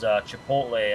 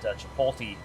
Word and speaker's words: Chipotle: I'm like the I'm like the old man that calls Chipotle. I call it Chipolte.